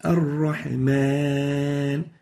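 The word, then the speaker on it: الرحمن: So it's Ar-Rahman, not Mon. So avoid nasalization when pronouncing the alif. Make sure that the alif is pronounced without ghunna.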